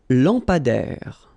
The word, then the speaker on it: lampadaire: Un lampadaire. Final not pronounced. Un lampadaire.